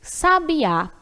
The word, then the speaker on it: sabiá: Sabiá, destacado pelo acento gráfico, já sabia pelo acento prosódico, o bi.